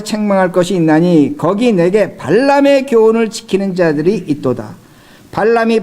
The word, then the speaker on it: 발람: 여러분 민수기를 보시면 하나님의 선지자가 나오는데 그 선지자 이름이 발람 선지자입니다. 발람하고 발락이 발음이 비슷하기 때문에 잘 들으셔야 돼요.